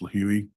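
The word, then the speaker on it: Lihue: And those purchases were made on March 13th, and they were round trip from Phoenix to LIH, which is, I believe it's pronounced Lahui, Hawaii, on the island of Kauai.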